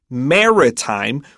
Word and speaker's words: maritime: by its rainy weather Maritime Legacy and mouthwatering snacks okay so pay attention to the word Maritime we emphasize that first syllable and we have that